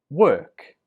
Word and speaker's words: work: British English so 22 we pronounce this word work work remember 21 was walk this one is work walk and work the difference is in the vowel or and ER walk and work for